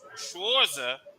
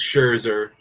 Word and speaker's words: Scherzer: weekend they sent uh Max schwarza I know I know I mispronounced his name Max Scherzer thank you they sent